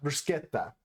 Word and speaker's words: Bruschetta: Bruschetta. That's how it's pronounced.